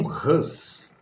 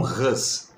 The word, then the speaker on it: Hus: não é não, John Hus, né? A pronúncia talvez seja mais adequada, John Hus.